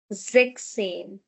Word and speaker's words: sechzehn: So, for 16 and 17, we are going to omit s and e n respectively. So, that makes it sechzehn. sechzehn. Not sechzehn. Please remember, no. sechzehn.